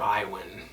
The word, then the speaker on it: Iwan: Iwan. It's spelled I-W-A-N.